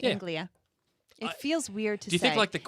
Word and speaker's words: Anglia: yeah yeah oh i was saying it right anglia it feels weird to do do you think